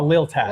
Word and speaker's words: La Lealtad: a hard time, La Lealtad. Lealtad. I think. I always want to add like an extra A or I between that L and T, and I know that's not how you say it.